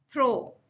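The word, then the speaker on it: though: Throw, हालांकि, थो है, थ्रो नहीं है, थो है।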